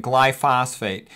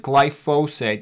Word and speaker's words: glyphosate: she became interested in glyphosphate as you can pronounce it glyphosate that's actually the proper way to pronounce it I like to pronounce